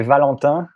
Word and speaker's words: Valentin: Valentin? You say Valentin, which is difficult because those vowels don't exist in the English language.